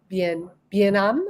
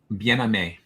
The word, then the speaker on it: Bien-Aimé: Bien-Am or Bien-Aimé? Bien-Aimé. Bien-Aimé. Yeah. There would have been an accent on the last E.